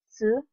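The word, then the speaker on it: つ: When you're saying this one, you kind of want to have the T and the S sound together. So it's su. It's kind of, when I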